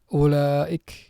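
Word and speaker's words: أولئك: Huruf waw setelah alif tidak boleh kita baca dua harokat. Ya, tidak boleh kita baca ulaik, nggak boleh. Ya, tetap dibaca satu harokat. Yang benar ulaik, hamzahnya atau alifnya dibaca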